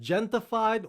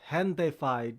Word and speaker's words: Gentefied: title of this show i said gentified when i should have said gentify a lot of you